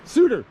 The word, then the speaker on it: Suter: How's that pronounced? Suter. Suter Falls.